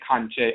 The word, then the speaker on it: Kankye: Their assumption was that we were mispronouncing the word conjure with an Afurakani southern Ebonic dialect, thus sounding like conjure, kanje. In reality, we were saying Kankye all along.